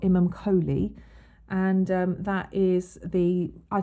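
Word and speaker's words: Imum Coeli: part of the heavens the ic stands for imam chelly or it sort of looks like it's spelt imam kholi and that is the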